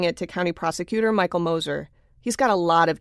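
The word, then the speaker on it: Gmoser: Moser, that's spelled G M O S E R, but the G is silent, was one of two attorneys back in 1978 who tried Bob Young.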